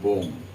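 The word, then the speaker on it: bomb: এর আগে কতগুলো লিটার বসিয়ে দাও তুমি, দেখো বিও এমবি বোম।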